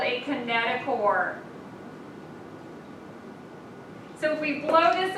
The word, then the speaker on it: kinetochore: sister chromatid called a kinetochore remember it's spelled chore but it's pronounced core this is what the